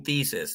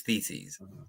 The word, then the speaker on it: theses: I was saying thesis. The plural of thesis is theses.